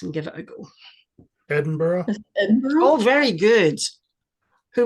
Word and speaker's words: Edinburgh: EX excellent yes perfect Edinburgh the G and the H are silent at the end of these names um sometimes you will